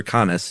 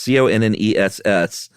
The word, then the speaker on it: Conness: And one of them was a senator in California named, I don't know if it's pronounced Cons or Connes. It's Conness. And he introduced a bill that said, hey, Yosemite is great.